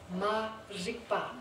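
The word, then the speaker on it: ma-rigpa: But ignorance in Tibetan actually means ma-rikpa. It's like the R in Tibetan is pronounced in a funny way, but it's actually M-A-R-I-K-P-A. M-A-R-I-K-P-A.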